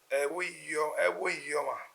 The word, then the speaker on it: Ebhoiyi: Or if the three are wrong, give us the correct pronunciation of the name, sir. The correct name is Ebhoiyi.